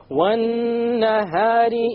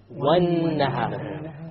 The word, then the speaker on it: وَالنَّهَارِ: Therefore, how do we pronounce it? وَالنَّهَارِ. We didn't say وَالنَّهَار. We dropped the lam because it is a solar letter.